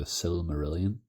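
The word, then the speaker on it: Silmarillion: have just started the S merilon uh firstly I'd like to apologize CU I I've mentioned that book before and absolutely butchered the name um which I I know is now the s merilan that it's it's a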